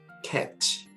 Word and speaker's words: catch: 넘어야 될 게 바로 T가 묵음으로 발음될 때가 있는데요. 언제냐면 여러분들 손목시계, 그 다음에 보다라는 뜻을 가지고 있는 watch, 그리고 공을 잡다 할 때 catch. 이때 보시면 둘 다 공통점이 뭐냐? A 다음에 알파벳 A와 그 다음에 CH 사이에 T가 나옵니다. 이럴 때는 T가 묵음이 되는 것을 볼 수 있습니다.